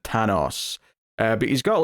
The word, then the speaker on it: Thanos: is a rapper who I was reading Thanos in the subtitles but I think they were pronouncing it tanos uh but he's got